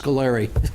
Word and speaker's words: Scolari: sure everybody knows that his name is pronounced Scolari. Paul Hinckley.